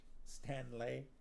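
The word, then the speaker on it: Stanleigh: say say it like that because they spelt it's spelled s-t-a-n-l-e-i-g-h stan lay excuse me our gongs were being struck all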